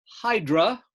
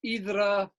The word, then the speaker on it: Hydra: But here's Hydra, Greeks pronounce it Idra, and the island of Spetses, just to give you an idea where these islands are located.